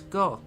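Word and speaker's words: ご: And next is go. You pronounce this as go, right? Ko as normal. Then add your Dakuten marks in the position shown in the image above.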